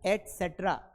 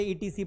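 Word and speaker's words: et cetera: मतलब जो सी है ना इसको सेट्रा कहा जाता है। लेकिन शॉर्टकट में इसे सी बना दिया। तो यह एसेट्रा होता है। लेकिन हम इसे ईटीसी पढ़ देते हैं। एक्सट्रा पढ़ देते हैं। ध्यान रखना है। This is एसेट्रा।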